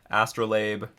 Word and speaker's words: astrolabe: I'll play around the astrolabe which I've been pronouncing wrong the entire time as you have all discovered yeah I was calling it a strobe light I thought it was